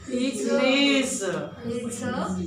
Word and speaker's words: lese: Not z. It's a z. Ich lese. No. No. It's a z. Like the bee is doing z.